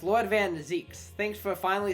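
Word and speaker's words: van Zieks: month and Gregson so finally somebody has said his name and I've I've been uh pronouncing it along uh the entire time that's fine I'm not gonna change it I'm gonna keep calling him van zykes because I'm too far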